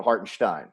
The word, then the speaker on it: Hartenstein: so so basket so basketball reference is correct with the phonetic pronunciation of heart and stein yeah okay so we need to let all of my colleagues know around the league that when isaiah is in a game it's stein not steen not stein stein